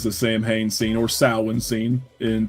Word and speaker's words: Samhain: I know it's Samhain, but I like that they pronounce it.